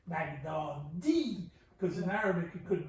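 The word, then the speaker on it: بغدادی: Another way to look at it is when it's Nesbat, it's as if there's a tashdid on the final E. Baghdadi. Because in Arabic it could be Baghdadiyu.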